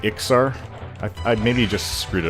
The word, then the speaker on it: Iksar: of speech impediment, so he would say Iskar instead of Iksar.